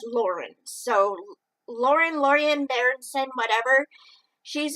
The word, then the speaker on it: Laurien: Now, it's spelled Laurien. I say Lorien, but on the audiobook it says Lauren.